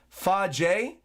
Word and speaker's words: Feige: Just wanted to say that Feige is pronounced Fa-J, and it means to eat, because Fagus means to eat, or something like eating in Latin.